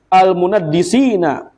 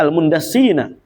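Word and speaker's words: المندسين: belajarahtajrin minal munadiq almunaddisina atau almundassina ya bacanya almundasina baina sufuil muslimin.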